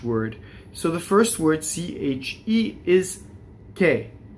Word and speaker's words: che: H is silent in Italian. It's there to make the, C-H-E is K, it makes the C hard, right? And so if it were C-E, it would be che, and in this case, because it's C-H-E, it's K.